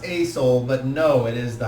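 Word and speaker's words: Aesol: far as you're concerned a-e-s-o-l it is pronounced a soul but no it is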